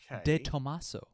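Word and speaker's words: De Tomaso: I'm going to assume the correct way because I looked this up and I heard other people pronouncing it this way. Detomaso.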